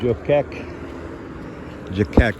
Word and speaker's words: Göcek: in the city of joke jake it's uh g o well right there g o c e k and the c in turkish is pronounced like a an english j j where the j